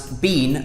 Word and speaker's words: been: England we say Ben we pronounce be like b een like the same as we pronounce scene or spleen we would pronounce bean like b een where